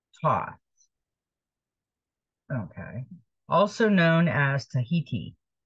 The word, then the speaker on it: Thoth: Thoth is pronounced Thoth.